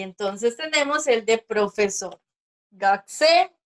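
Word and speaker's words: 学生: Gakse, ¿verdad? Porque hemos dicho que la uno siempre se pronuncia.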